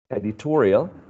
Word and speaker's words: editorial: In the case of this one, editorial, editorial happens the same thing. The stress goes on the preceding syllable.